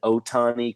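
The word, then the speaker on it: Ohtani: i I believe and Otani kind of like it sounds o-t-a-n-i release yeah cause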